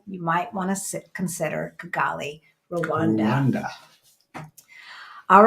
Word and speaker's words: Kigali: yeah on the continent is how do you pronounce it Gali no you spelled it wrong it's Kigali you added an extra oh yeah did I